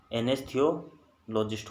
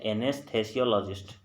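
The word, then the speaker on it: anesthesiologist: एनेस्थियोलॉजिस्ट होता है। एनेस्थेसियोलॉजिस्ट, दोबारा पढ़ते हैं इसको, एनेस्थेसियोलॉजिस्ट। इसका जो सही प्रोनाउंसिएशन है एनेस्थेसियोलॉजिस्ट।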